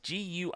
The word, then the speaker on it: GUI: guis guys of course being graphical user interfaces gui gui is the way we pronounce it in the old computer world and